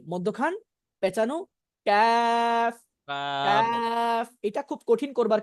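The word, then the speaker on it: ك: মধ্যখান পেঁচানো cafe calf cafe. এটা খুব কঠিন করবার কিছু নাই, এটা বাংলা কাফ ক এর মতোই। এক কথায় বলতে গেলে বাংলা ক যেভাবে উচ্চারণ করি কাফও সেভাবেই উচ্চারণ হবে নাকি?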